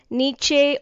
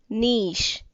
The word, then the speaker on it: niche: We were pronouncing it as niche or niche. It is incorrect. The correct pronunciation is niche. Please do remember, whenever you pronounce CHE in certain words, it has to be pronounced as sh, cash, niche.